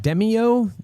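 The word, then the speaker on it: Demeo: Is it pronounced Demio, the VR dungeon crawler game? Yeah.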